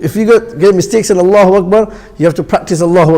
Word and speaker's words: Allahu Akbar: Allahu Akbar. दोनों को अलग करो पहले. So you get Allahu Akbar. Allahu Akbar. When you have two separate words, pronounce them separately.